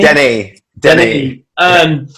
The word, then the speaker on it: Denny: Is that how I pronounce it? Den or Denny? Denny.